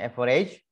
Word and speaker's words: average: dengan Everest average efisien apalagi tulisannya average dibacanya Everest rata-rata buka kurung di